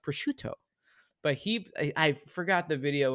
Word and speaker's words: prosciutto: It's obviously pronounced prosciutto.